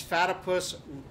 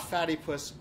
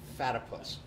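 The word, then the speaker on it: Fatypus: It's Fatipus, rhymes with platypus. Not Fatty Puss, Fatipus.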